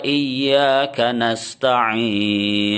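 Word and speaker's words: إياك نستعين: Kak itu kayaknya pendek ada sebagian orang yang dipanjangkan itu salah ya Wa iyyaka nasta'in Khan Ayo kita ingin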